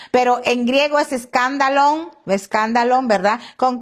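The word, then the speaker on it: σκάνδαλον: Se dice escándalon. Escándalo. Fíjense, e esto es tremendo porque muchos, muchos usamos esta palabra escándalo, ¿verdad? En nuestro idioma escándalo, pero en griego es escándalón. escándalon, ¿verdad?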